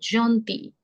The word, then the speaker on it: gentil: L is the last letter, no sound. So the sound would come till I only. So that is vous êtes gentil.